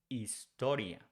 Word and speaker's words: historia: The same thing with H. We don't pronounce H in Spanish. So instead of saying historia, we say historia. So history becomes historia in Spanish.